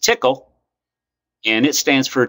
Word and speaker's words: Tcl: on a language we call TCL or again pronounced tickle and it stands for a tool control language